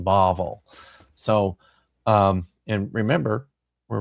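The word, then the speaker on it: Bavel: But when the same letter is doesn't have the dot, it takes a softer V pronunciation. Bavvel. So um and remember we're reading this way. So that's the word Bavvel, uh Babylon.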